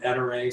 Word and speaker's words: Ettore: small accusatory's daughter basically calls them ettere so at least around the business we are entering that's that's who we are we'll answer to anything but that's that's the the correct way the family pronounces the name so that is not